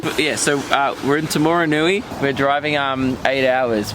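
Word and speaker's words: Taumarunui: great this is mean oh get Luke to pronounce that Tim aroon tomorrow Rooney that wasn't even close oh it's tomorrow yeah so uh we're in tomorrow Nui we're driving um eight hours between Auckland and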